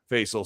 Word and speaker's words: Faisal: i remember facial saying it's pronounced like hazel i'm so sorry i